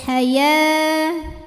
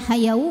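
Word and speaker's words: حياة: Cara bacanya dipanjangkan ya-nya 2 harokat. Fil haya, wawunya ini nggak usah dibaca ya, jadi bukan hayau, bukan ya, bukan haya jadi lebih panjang juga tidak ya, ya-nya tetap 2 saja.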